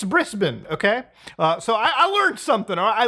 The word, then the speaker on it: Brisbane: gladly reminded me that it's not Brisbane, it's Brisbane.